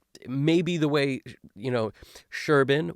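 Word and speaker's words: Serban: way you know Sherban which I've understood now that's how you pronounce his name Sherban so I'm going to s sort of start doing that and be the only one on the internet who's probably pronouncing his name in that way but you know it's sh because of where he's from in Romania so the idea here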